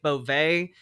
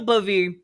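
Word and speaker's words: Bove: I I forget how you were supposed to pronounce his last name. I I think I heard people calling it Boet, but I think that that turned out not to be correct.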